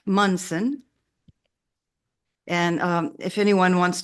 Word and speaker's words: Munson: to add anything well my name is pronounced mson and um if anyone